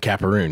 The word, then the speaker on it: Capperrune: Am I pronouncing it right? Capperrune? You absolutely Capperrune? Are. Okay, good. Capperrune, yeah.